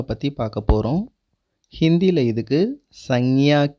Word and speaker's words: संज्ञा: நவுனுக்கு ஹிந்தியில் சங்யா அப்படின்னு சொல்லுவாங்க. எப்படி ப்ரொனவுன்ஸ் பண்ணுறதுனா, ஃபர்ஸ்ட் லெட்டர் ச, மேலே புள்ளி இன், செகண்ட் லெட்டர் க்யா, ச இன் க்யா, சங்யா.